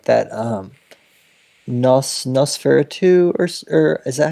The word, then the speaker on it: Nosferatu: don't think, but I have seen like that Nosferatu, or is that how you say it? It's the German movie. Are you familiar with that? Yeah, Nosferatu.